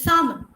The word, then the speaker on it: salmon: It is salmon.